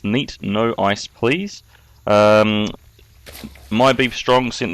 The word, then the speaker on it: neatnoiceplz: game uh against my beef strong and it's pronounced neat no ice please um my beef strong sent this into me